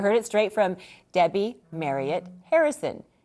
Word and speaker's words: Marriott: To say it right, it's Marriott like chariot, Marriott like lariat, Marriott like carrot. Marriott. That's going to be really hard to break that habit. Okay, so you heard it straight from Debbie Marriott Harrison.